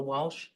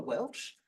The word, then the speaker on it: Welch: it's totally inappropriate, councillor Walsh. Thank you. Councillor Berricky. Thank you, Mayor. Just as a matter, it's councillor Welch.